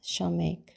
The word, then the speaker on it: Samekh: 15th letter of the Hebrew alphabet which is pronounced shameek the root word for shameek means to lean